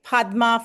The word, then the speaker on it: Padma: I would help them say Padma first and then add the shri like the tree and I would help